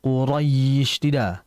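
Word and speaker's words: قريش: Jangan kita membacanya dengan kedua bibir. Quraisy bukan husy tapi Quraisy. Quraisy ya dengan menaikkan tengah lidah.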